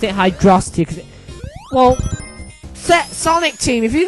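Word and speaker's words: Hydrocity: word is it pronounced V City no it's pronounced velocity so I don't get why people call it Hydro City Hydra means water it's it sort of makes sense why I've always pronounced it hydrosity well Sonic Team if you're going to name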